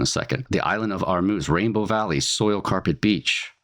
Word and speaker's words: Hormuz: So I'm going to say armuse or armuse because I think that might be the way it's pronounced in Persian. I think it's also called Farsy. That's the language of the of the Persian uh people of Iran. As an American, I you could say Hormuz if I'm saying that wrong.